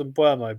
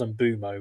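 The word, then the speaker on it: Mbeumo: I always thought it was Mbuemo, but I now think I saw the pronunciation sheet at Brentford. They put it up on the screen, and I think it was Mbumo, which just to me sounds like wrong and jarring.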